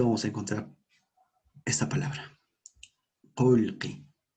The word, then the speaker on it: qolqi: Dice, en la forma escrita vamos a encontrar esta palabra, qolqi, en la forma escrita. Pero en la forma oral se pronuncia qolqi. ¿De acuerdo? Qolqi, repetimos, qolqi. Dinero.